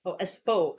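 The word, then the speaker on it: Espoo: It looks like Espo. Espo. It sounds a bit like Espo because it's like the O in code. So Espo. Oh yeah, Espo code.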